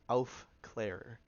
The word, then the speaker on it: Aufklärer: I think it's actually pronounced Aufklärer, which is strange.